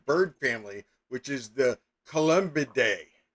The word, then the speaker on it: Columbidae: Pigeons and doves are scientifically distinct and both belong to the same bird family, which is the Columbidae. Columbidae? Columbidae. Columbidae. Look, it's not spelled like the toilet, but it might as well be because we're talking about freaking pigeons.